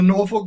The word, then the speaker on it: Norfolk: So I always like to hear how other people, especially ones from here, pronounce it. Or Norfolk, yes. Norfolk, there we go.